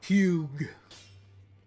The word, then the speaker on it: Hugh: It is spelled Hugh.